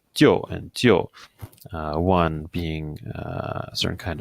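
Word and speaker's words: 就: really just saving the first part of the pronunciation. This is the very, very familiar word jiu, okay, which means only, okay.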